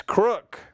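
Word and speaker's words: Crooke: read the names Chris crook the E and crook is silent so it's pronounced same as crook I was got e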